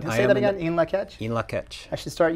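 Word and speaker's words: In Lak'ech: That's a translation of the Mayan in Lakech. That's correct. Say that again, in Lakech?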